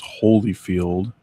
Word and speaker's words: Holyfield: While I have only ever heard his name as Holyfield the way we just said it, I have very strong memories of seeing it spelled Oh, come on.